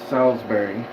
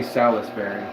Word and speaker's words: Salisbury: didn't see you so Salsbury Salsbury it's not it's like one of those words that you don't pronounce all the letters yeah don't say Salis Berry Salsberry Salsbury State uh what else I'm